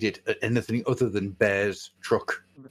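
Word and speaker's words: Bearstruck: Is he bearruck or is he bears truck? Bear struck. It's bear struck because that's his curse, isn't it?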